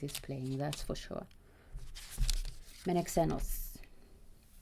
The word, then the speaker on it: Menexenus: Menexenus. The emphasis is on the second E. So M-E-N and then an emphasis E and then X and then enos. Menexenus.